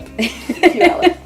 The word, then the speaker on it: Puyallup: Puyallup, yeah. I was like Puyallup, sorry. It's like pew like a church pew, and it rhymes with Gallup. Puyallup.